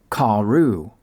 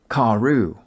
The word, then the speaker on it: כארו: It indicates that a long A vowel is to be pronounced after the kaf. And so you'd read it like this, Karu. Kaf aleph resh vav is basically an alternative spelling for kaf resh vav, a verb that we could translate as they dug. You'd pronounce both spellings of the word in the same way, Karu.